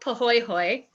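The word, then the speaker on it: pāhoehoe: It's called pooy hoy. That's how you say it. It's a Hawaiian word.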